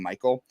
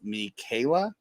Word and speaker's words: Michaela: I pronounced the name Michael. It's actually pronounced Michaela.